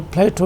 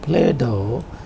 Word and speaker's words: Plato: For example, Plato is the normal pronunciation, and if it is pronounced with a flap, it is pronounced as Play-Doh. So if you pronounced it like Play-Doh, and play has another